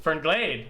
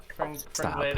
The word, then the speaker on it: Fernglade: Fernglade. He like emphasized the glade. he put the emphasis on the wrong syllable.